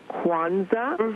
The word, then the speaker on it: Kwanzaa: I would like to first of all uh tell your guest that is it is pronounced Quanza.